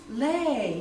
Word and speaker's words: Louie: thought okay I'm finally going to meet some Louis people and I asked everywhere everywhere you know